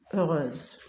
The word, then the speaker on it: heureuse: Donc on dit Lina est heureuse et je remplace le X par se qui se prononce Z et entre deux voyelles heureuse.